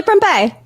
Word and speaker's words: Prempeh: Billy Prempeh.